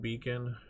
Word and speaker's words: Beacn: There was another one called Beacon, Beacn, I believe. It's spelled funky, but I think the O is the only thing missing from the actual word.